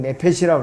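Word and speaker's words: נֶפֶשׁ: 혼은 헬라어로 이제 푸시케라고 발음을 해요. 히브리어는 네페시라고 그러는데 사람의 혼은 세 가지 요소로 이루어졌어요.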